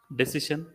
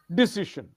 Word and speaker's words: decision: Next word, Decision. decision. Again, the emphasis is on decision. Many people do Decision. not do. You're okay. You're close to that, but it should be decision.